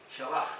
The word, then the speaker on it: Shalach: Shalach, perdonadme, la CH se pronuncia J, que quiere decir traer.